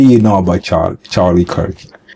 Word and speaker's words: Kirk: It's Charlie Clark. You said it right. Car. Charlie Clark. It's Kirk.